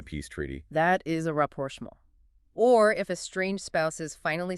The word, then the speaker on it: rapprochement: Rapprochement. The pronunciation on that one. I know, right? It looks like rapprochement. You gotta swallow the T. It's French.